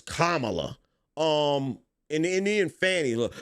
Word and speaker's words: Kamala: running for president that everybody started getting corrected on her name her name is kamla um and and then